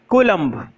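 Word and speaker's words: coulomb: unit क्या होती है कोलंबो कोलंबो नहीं बोलते हैं इसको को लंबा बोलते हैं तो लिखो चार्ट के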